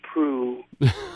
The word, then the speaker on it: Proulx: today oh I'm glad you know how to pronounce proof I'm glad I know how to pronounce princess